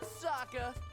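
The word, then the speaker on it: Sokka: so good that's right I'm Saka it's pronounced with an AA young ladies I rocked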